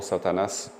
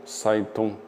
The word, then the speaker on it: Satan: O terceiro demônio é frequentemente listado como Satanás. geralmente pronunciado como Satan ou Saitun.